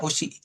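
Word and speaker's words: 牛: Jadi ini dibacanya usi karena ini berdiri sendiri. Nah, oke. Kalau dibacanya nyu benar juga, tapi ingat kalau new itu dia ee digabungin dengan kanji lain gitu se itu.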